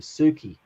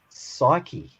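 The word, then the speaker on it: ψυχή: called his dogs named suki and you could call your dog sookie if you wanted to but it's probably better pronounced psyche okay like what we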